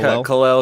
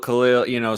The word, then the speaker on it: Kel'el: Yeah, Is it Kel'el? Khalil, somewhere in that range. It kind of floats back and forth, but you got it. You got it close Okay.